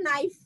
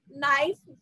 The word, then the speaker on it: knife: तो नाइफ में always we start with के, है ना, उसकी स्पेलिंग के से स्टार्ट करते हैं, लेकिन साउंड किसकी आती है, एन की आती है, क्योंकि उसमें के साइलेंट होता है, चुप चुप होता है ना।